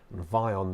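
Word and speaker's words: Vyon: space security service who killed him and why vion there for your reference is spelled V Y o n the googling by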